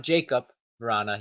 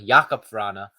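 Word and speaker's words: Jakub Vrána: to nothing and then Jacob not Jacob Rana Jaco piranha uh apologies have been mispronouncing his name the last few episodes but some of you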